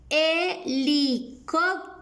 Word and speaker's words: helicóptero: que sucede es que la h es una letra mudita y no nos da sonido así que por eso suena el helicóptero helicóptero muy bien y niños